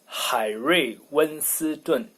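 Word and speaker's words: 海瑞温斯顿: But in Chinese it's 海瑞温斯顿.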